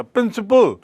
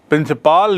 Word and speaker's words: principle: PRINCIPLE उच्चारण वही है थोड़ा सा, प्रिंसिपल, और ये है प्रिंसिपल। प्रिंसिपाल नहीं बोलते, प्रिंसिपल, और वो है प्रिंसिपल।